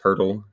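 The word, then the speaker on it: Poeltl: Yakob Purle with no Rs in his name, but it's pronounced Purle.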